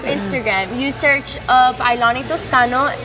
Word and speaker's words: Toscano: You search up Aylani Toscano. It's Aylani, and then just Toscano. It's from Italy, so it's not just how you pronounce it. It's roll off the back.